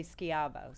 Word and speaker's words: Schiavo: her last name uh schiavo is how i do it but some people say skiavo so she was either